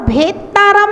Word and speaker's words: भेत्तारम: देखिए नेतारम में एकता है और भेत्तारम में दोता है, तो उच्चारण करते समय हमेशा ध्यान रखेंगे नेतारम में नेतारम, भेतारम में भेत्तारम, दोता का उच्चारण करना है तो आपका उच्चारण एकदम शुद्ध होगा। नहीं तो लोग पढ़ते हैं नेत मोक्ष मार्ग से नेतारम भेत्तारम कर्म भूव्रताम, तो डबलता कर देते हैं।